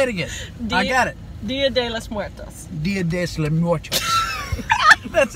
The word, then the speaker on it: Día de los Muertos: Día de los Muertos. Día de los Muertos. Just said it right. Día, say it again. I got it. Día de los Muertos.